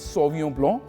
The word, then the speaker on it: Sauvignon Blanc: It is pronounced as Sauvignon Blanc, B-L-A-N-C, and Blanc basically means white.